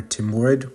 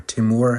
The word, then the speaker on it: Timur: of my Army of tamlane or Timur or timour however you want to pronounce it it's kind of a